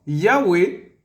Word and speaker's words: Yahwé: nom précieux le tétragram Yahwé en hébreu voilà vous voyez se prononce s Yahoué ah ouais c'est du